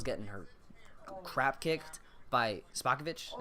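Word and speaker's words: Spopovich: her crap kicked by spa kovitch is how it's pronounced and Gohan got raged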